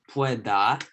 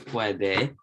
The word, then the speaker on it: puede: So it's not pueda, it's puede.